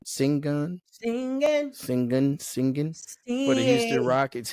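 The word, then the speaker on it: Şengün: singan from the Houston this is how you pronounce it s n g n singun singing singing singing forou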